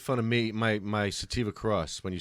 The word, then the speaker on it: Sativa: said santiva cross but you always say santiva okay I used to just think I took it personally like you're making fun of Santiva cross. I'm like I have a problem pronouncing I have pronouncing words so I just like make up my own and then I'd keep it forever. I'm just saying that people listening it's called Sativa.